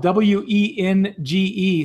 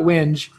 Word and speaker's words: wenge: Which if ever, I didn't mention it, but it's spelled W E N G E. So a lot of people call it Wenge, but it's not Wenge. It's Wenge.